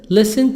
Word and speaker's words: listen: listen, listen t silent, listened.